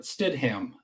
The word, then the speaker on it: Stidham: Jared Stidham. I don't even know. I think I'm pronouncing his name right. It's Stidham. Name. It's all like one word blended. Yeah. It's not Stidham. Stidham.